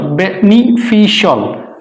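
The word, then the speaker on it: beneficial: ইউ আইল crucial ক্রুশল বেনিফিশিয়ালটা হবে না বেনিফিশিয়াল বেনিফিশল বেনিফিশল আর্টিফিশিয়াল রং প্রনান্সিয়েশন আফিশল আফিশল আর্টিফিশিয়াল ফিনানশিয়াল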